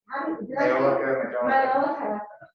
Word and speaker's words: Majolica: And also, it also relates to Majolica, which I really, or how do you say it? Yeah, no, that's it. Majolica.